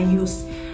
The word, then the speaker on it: JYSK: Dulu kita nggak pernah bisa tahu gimana cara bacanya. Ternyata setelah kita pindah ke sini, cara pronounce-nya adalah JYSK.